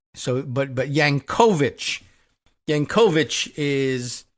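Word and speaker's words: Jankowicz: her name, uh, one, the emphasis is on that middle syllable, and two, instead of not not Jenkoitz, but Yank, right? So, but but Yankovich, Yanovich is how it would be pronounced in Polish.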